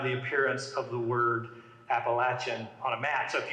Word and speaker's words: Appalachia: you're from in Appalachia, whether you pronounce it Appalachia or Appalachia. People print t-shirts about that, right? So down here it's Appalachia.